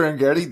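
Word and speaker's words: Arrighetti: Is it Spencer Arent? It is Spencer Argetti. That is why I double checked with you. That's how he pronounces his name.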